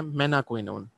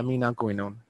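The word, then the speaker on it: menaquinone: Intestinal bacterial flora जो vitamin के produce कर रहे होते हैं उसको बोलते हैं मेनाक्विनोन या मीनाक्विनोन, जो भी बोलना है, ठीक है। मेनाक्विनोन इज the right pronunciation for that.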